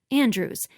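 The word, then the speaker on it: Andrewes: that kind of finesse franklin's last name was the same as emma's in pronunciation but different in spelling hers was the old way andrews a-n-d-r-e-w-e-s derived from shakespeare's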